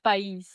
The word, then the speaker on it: país: You said pies before. That means country in your language, right? País. No, yeah, but you said it wrong.